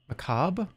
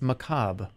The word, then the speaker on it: macabre: be dark soon what Macabre how do you say it isn't that how you say it how do you say it macabre it's macabre it's not macabre the r is silent it's French did I just okay